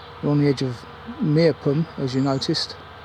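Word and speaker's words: Meopham: We're on the edge of Meerpum, as you noticed. Or I think it's actually pronounced Mepham.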